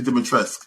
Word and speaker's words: Dimitrescu: Lady Dimitrescu. That's how you pronounce it.